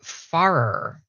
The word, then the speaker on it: Farrer: going to go ahead and bring on Andrew farer that help me welcome him py hey you